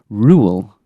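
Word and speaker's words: Roald: googling it there and it seems like you pronounce it Rule. Oh Mr. D, I told you the other week it was Rule.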